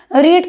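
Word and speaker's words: read: रीड का third form क्या होता है? रेड। स्पेलिंग सेम होती है। प्रोनंसिएशन चेंज हो जाता है।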